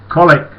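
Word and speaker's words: Colwick: at colewick i said colic how many more times i've got to tell you jackie spelt colweek pronounced colic she says yes i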